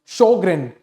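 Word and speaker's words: Sjögren: This particular disease it is pronounce शोग्रेन।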